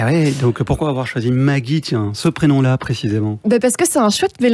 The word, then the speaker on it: Maguie: Ouais donc Maggie ça s'écrit je l'ai un peu francisé hein. M A G U I E.